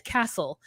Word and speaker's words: castle: the s's I mean it's castle like the t is silent and he says it